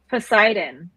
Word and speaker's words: Poseidon: Poseidon. Okay. Like the Greek god.